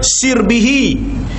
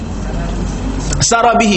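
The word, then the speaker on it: سِرْبِه: baca perkataan sirbihi tu kerana ada sebahagian meletakkan makna meletakkan baris atas sarbihi sarabihi Sorry sarabihi ada yang ada yang baca dengan sirbihi jadi diajar kita cara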